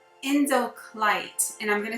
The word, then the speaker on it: Indicolite: It's called Indoclite, and I'm going to spell it for you because I've never heard of it. It's Indicolite, and this is related to the crown chakra.